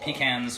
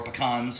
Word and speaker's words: pecans: can do it with pecans or anything like that, or pecans, depending on how you say it.